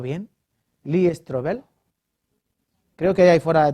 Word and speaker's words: Lee Strobel: cambio en ellos han leído algún libro de eli stroger he pronunciado bien lee strobel creo que hay fuera de tiene algunos libros